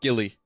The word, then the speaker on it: Guile: I don't know, but it's pronounced Gilly. Like Willy with a G.